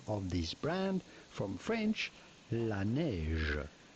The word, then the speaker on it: La Neige: The name comes from French La Neige, which translates into the snow. So how do you go about pronouncing the name of this brand? From French, La Neige. La Neige.